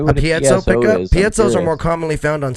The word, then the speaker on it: piezo: Single coil, split coil, piezo, or all of these?